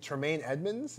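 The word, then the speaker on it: Tremaine Edmunds: up again yeah they turned up again shrimp Tremayne Edmonds is how you say it yeah linebacker from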